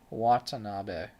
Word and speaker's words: Watanabe: I know I think you're right Watanabe that makes more sense with the emphasis on the correct syllable and everything will be